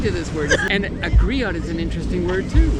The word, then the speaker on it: griot: a Storyteller okay um you're pronouncing a Grio yeah g no tea on the end it's it's silent four groups of people